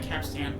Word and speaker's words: capstan: near the ship's wheel it might be pronounce more like capstan oh I was hearing